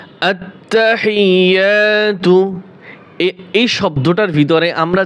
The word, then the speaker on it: আত্তাহিয়্যাতু: আত্তাহিয়াতু, এই শব্দটার ভিতরে আমরা যে ভুলগুলি করে থাকি, এখানে অনেকেই টান দেয় আত্তাহিয়াতু, যে আত্মা তাই টান দেওয়া যাবে না।